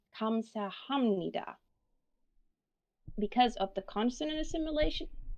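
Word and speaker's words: 감사합니다: results in an m so we do not pronounce this syllable as hub we actually pronounce it as hum so if we look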